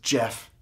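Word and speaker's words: Geoff: are hurdled with ease g e o f f becomes Jeff a normal word a normal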